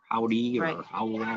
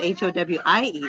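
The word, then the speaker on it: Howe: we how we indiana howdy it's h-o-w-e i think they just pronounce it how see when i first booked it i thought it said h-o-w-i-e that's why i kept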